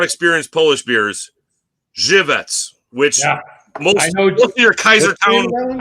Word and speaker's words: Żywiec: The W is a Z, so it's like most people will see Wieczeks, which is like one of the most popular beer in Poland. It's actually pronounced Żywiec, means good night.